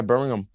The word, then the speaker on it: Birmingham: yeah, Birmingham.